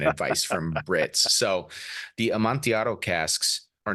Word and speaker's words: Amontillado: This one's Amontillado, and we could do a whole episode just